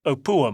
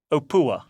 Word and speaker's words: Opuwo: I can never say it right for some reason. It's pronounced Opua, mate. Opua.